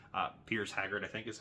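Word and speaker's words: Piers Haggard: Uh Peter Haggard, uh Pierce Haggard, I think is how you say his name.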